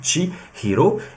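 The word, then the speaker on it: 千尋: ce sera 1000 recherches en japonais se dit tchi Hiro et c'est ce qui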